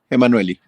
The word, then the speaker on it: Enmanuelli: Ah, bueno, entonces no, ¿cómo se pronuncia exactamente? Emanueli.